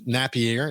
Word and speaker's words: Napier: Colin Napierre. Napierre. It's not Napier as it as it would be pronounced if you were trying to do that solidly, but he's Napierre is has he pronounces his last name, but